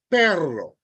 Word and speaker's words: perro: way the dou r you need to ensure that that is pronounced for example p r r o That's perro perro all right you have to be able to pronounce a r because if you don't pronounce it and you say perro perro that is p o which means something else in your in reading